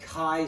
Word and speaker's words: chi: an X with a little tube and it's pronounced chi squared c-h-i but it's pronounced chi-squared and and this